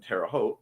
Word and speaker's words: Terre Haute: I need to charge my Fitbit and USB bricks for tomorrow's Munzie event in Terre Haute. Rhymes with vote.